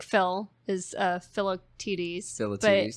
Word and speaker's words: Philoctetes: Like Phil is Philoctetes. Philoctetes. But they kind of say it like Phil the Tetes, well, and speaking of Phil the Tetes, which I think was specific.